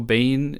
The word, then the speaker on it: Biehn: actually got some casting news today that Michael pronouncing on Michael bind Michael Biehn is going to be in it I don't